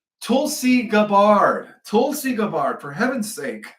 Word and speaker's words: Tulsi Gabbard: Eight out of the 100 intelligence officers were fired by Tus- Tusli Tusi. I can never pronounce her first name. Tulsi Gabbard.